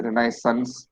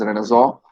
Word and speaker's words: renaissance: e a n c it is a french word which is why it is not pronounced as a renaissance but it is pronounced as renaissance it refers to a